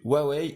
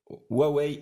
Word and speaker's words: Huawei: le déballage de notes huawei nova ou froids wait see on le prononce à la chinoise alors c'est un modèle